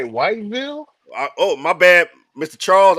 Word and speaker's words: Whiteville: Did you say Whiteville? Oh, my bad, Mr. Charles. I said it wrong. It's Whiteville.